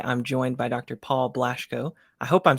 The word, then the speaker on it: Blaschko: and theology today I'm joined by Dr Paul blashco I hope I'm saying your last name correctly